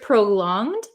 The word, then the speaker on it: prolonged: uh in the word prolonged um we don't say it as a hard G it's not prolonged prolonged